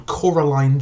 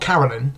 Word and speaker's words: Coraline: the story opens on Coraline not Carolyn as everyone keeps calling her but Coraline I don't care get up no he got my name wrong the name is Coraline like is that even